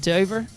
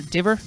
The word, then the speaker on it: Diver: a few irish over there as well sinead dover or diver as it actually is pronounced be obviously running for australia these days